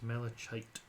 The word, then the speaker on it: malachite: I believe it's malachite. Yes. Yes, it is spelled like that.